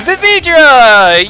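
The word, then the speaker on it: Vividria: I realize probably the way you're supposed to say her name is probably pronounced Ia at the end, because it's probably supposed to be similar to, like, Drawsia and Paintia.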